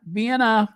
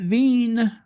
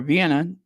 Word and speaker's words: Vienna: was so dirty and not Vienna not vanan not V it was or Vienna not vanan it was